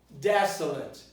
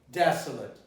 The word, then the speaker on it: desolate: word the word is desolate desolate I think you can see that the end of the word here is late but it's not pronounced is late in the